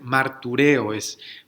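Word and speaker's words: μαρτυρέω: Esta palabra, this word, in the original language, en el lenguaje original, es martureo, This is how you pronounce it, and if you listen to that carefully, si escuchamos ahí, esa palabra suena familiar, that word sounds familiar.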